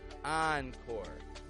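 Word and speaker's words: encore: cow Tow and finally words adapted from the French language spelled with e n entrepreneur Onre oncore on Route take action on the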